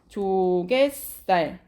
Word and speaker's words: 조갯살: 자, 발음 어떻게 내는지 볼게요. 조개쌀 또는 조개쌀. 디귿이에요. 조갯살 이렇게 발음이 나네.